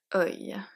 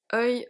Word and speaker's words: œil: And I kept the best for the end, œil. Œil, œil, œil, œil can have 4 different spelling. I know. So here, to pronounce this one first, let's see the pronunciation.